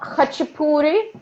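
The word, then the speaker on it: khachapuri: k k h a c h it's called hachipuri it's pronounced and if you ever go to a georgian place definitely try this hachipoori especially the one with an a a geruli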